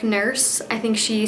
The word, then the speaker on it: Nourse: It's spelled N-O-U-R-S-E, but it sounds like nurse.